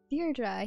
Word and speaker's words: Deirdre: the dragon to dre how do you pronounce this name deirdre what i was saying to dre though dear joe we finally know how to pronounce her name deardra here she was just a